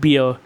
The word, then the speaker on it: Bar: You know, Barry, she said. That is the nickname she and my grandparents used for me when I was growing up. Often shortens to bar, pronounced beer.